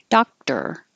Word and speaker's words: doctor: is held Dr doctor doctor this is a good reminder that it doesn't matter if it's spelled or it will still sound like er er doctor and repertoire repertoire that